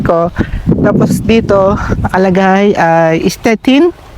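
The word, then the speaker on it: Stettin: Tapos dito nakalagay ay stetin. So in German and stchin in Police mga kababayan.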